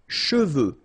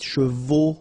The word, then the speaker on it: cheveux: Sèche, okay, sèche, and then cheveux. Usually this one is a bit of a problem because some of the students normally pronounce it chevaux, okay?